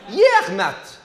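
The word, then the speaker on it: Yec'hed mat: Yermat. Yermat. Yermat. Santé! C'est comment ça? Ouais, comme au train, mais comment vous le prononcez? Yermat.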